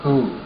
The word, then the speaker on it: Hu: the sound is it's it's spelled hu usually in sufism anyway and it's it's just the sound is who and so what i'd